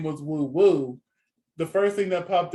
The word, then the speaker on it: Woo Woo: We have Woo Woo. That's how you say her name. Woo Woo. Singing Good Girl My Madonna, huh? I said woohoo. Woo Woo.